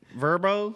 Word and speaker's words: VRBO: Verbo.